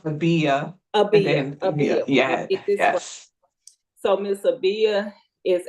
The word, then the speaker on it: Abijah: awesome lady with me today her name is AA Grant did I say it right did I remember it right it's okay it's pronounced AIA AB so miss ABIA is a passionate advocate